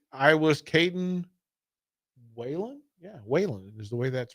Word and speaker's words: Whan: Yeah, Whan is the way that's pronounced.